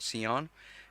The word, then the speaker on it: Seonn: If you don't know about Sion, it's spelled Seonn, so you can go check that out too.